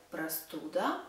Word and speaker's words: простуда: Простуда, cold.